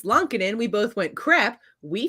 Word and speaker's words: Lankinen: when she told us that no, it's not Lankinen, it's Lonkinen, we both went, crap, we feel like dirt.